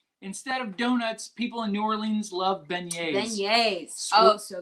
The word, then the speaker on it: New Orleans: So, New Orleans is pronounced New Orleans, not New Orleans.